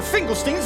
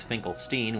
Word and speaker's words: Finkelstein: Finkelstein's experiment did it! However, Jack says Finkelstein, whereas in the movie it's pronounced Finkelstein, like Frankenstein.